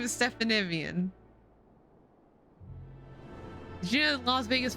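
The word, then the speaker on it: Stephanivien: on no if he asked you to pronounce it stephanievian that's how you pronounce it see no see it's right there it's it's stephanievian it's it's right there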